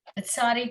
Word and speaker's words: Tsadi: I am learning now from this exchange you had that Tsadi doesn't always sound like TZ. Apparently in modern Hebrew, it can also sound like more of a CH sound.